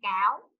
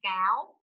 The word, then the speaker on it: cáo: Con cáo. Con cáo.